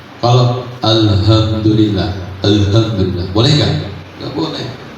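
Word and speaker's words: الحمد لله: Perhatikan alha itu ha kecil bukan H besar. Kalau alhamdulillah.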